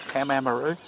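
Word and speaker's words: Pamamaroo: You know how to pronounce that? Lake Pamamaru.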